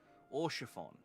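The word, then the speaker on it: Haurchefant: You don't even pronounce the H. Orchiffon.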